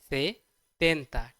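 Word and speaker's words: setenta: it is say senta for 70 we say it as say tenta t is here okay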